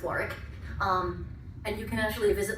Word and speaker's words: Warwick: There's a place called Warwick Castle, spelled Warwick. We just pronounce things weird for some reason. It should be Warwick. It's not. It's Warwick.